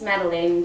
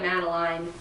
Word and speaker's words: Madeleine: In French, it's Madeleine, but it's like a in little English, you'd call her Madeline.